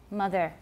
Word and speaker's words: mother: First of all, it's not ah, it's mother. Not mother, it's mother. And that's very, very, very common in Taiwan English.